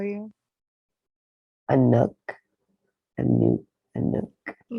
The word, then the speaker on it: Anuk: A nook, a nook, a nook. Can you spell that?